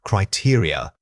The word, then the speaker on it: criteria: Many speakers struggle with the final unstressed vowels. Remember that this word has an important stress pattern starting on the second syllable. It is not a single stressed unit. It's built around three smaller vowel sounds. Articulating these small internal steps gives your speech a more sophisticated rhythm.